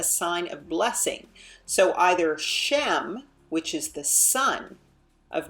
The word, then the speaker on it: Shem: honor Authority character and notice how they pronounce it shame right and of course in this is coming you know from Gentile translations in terms of pronunciation so shame is something